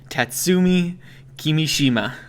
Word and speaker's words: Tatsumi Kimishima: They now have President Tatsumi Kimishima. Oh, I got that pretty good, I think. Yep, I think you got it perfect there. I looked at it and just went syllable by syllable.